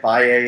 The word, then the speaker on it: Valle: pronounce my name, because people always pronounce my name. They call it Val. In Spanish, you can say it Valle if you want.